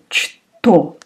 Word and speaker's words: что: And the next one is что. It's written что, what, but you pronounce like sh.